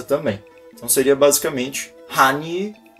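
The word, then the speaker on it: 汉语: Você vê que esse yu que eu falo é um yu, então a gente tem que passar essa pronúncia também. Então seria basicamente Hanyu, Hanyu.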